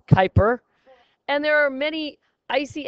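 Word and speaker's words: Kuiper Belt: is Pluto lies something called the Kyper Bel pronounced Kyper and there are many icy asteroid and Comet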